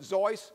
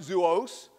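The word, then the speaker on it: Seuss: zis some pronounced it zoy some pronounced it zoos as a result man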